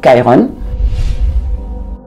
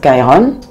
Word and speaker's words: Chiron: Et en anglais, on l'appelle Chiron. Je préfère le prononcer en anglais, Chiron.